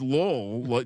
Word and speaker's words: Lowell: It's Lowell, just like Louisville.